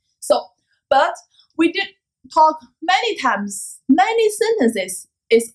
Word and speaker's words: 他: In Chinese, the pronunciation of she, he, it, the same. It is same pronunciation. It's a ta.